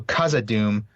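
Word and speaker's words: Khazad-dûm: his tolken says backhand it's basically a k with a strong puff of air okay so so kazad Doom not kazad Doom well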